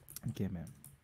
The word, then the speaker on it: イケメン: Ikemen.